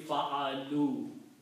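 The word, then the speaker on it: فعلوا: a waw here, so the pronunciation should be fa'alu. So that's the reason we change this fatha to a dhamma and combine with the waw. So fa'alu. Alif is written with a circle, it is not pronounced.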